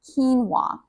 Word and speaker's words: quinoa: The first is pronounced quinoa.